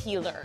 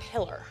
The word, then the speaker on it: healer: questions uh Whitney Rose do you know it's pronounced healer and not Hiller right right uh Jen Shaw I would just